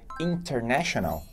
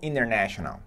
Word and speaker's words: international: letra a maior confusão percebeu que o britânico falou International pronunciando mais o p aqui de novo presidente da Xuxa Rei enquanto o americano falou International International sem pronunciar a letra T pelo nariz no anos